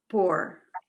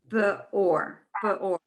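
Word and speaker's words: בְּאוֹר: Bor, Beor. Beor. Right. That two dots separates it from the other. So you have to, it has another syllable.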